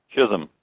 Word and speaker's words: Chisholm: Is it Chisolm? Chisholm.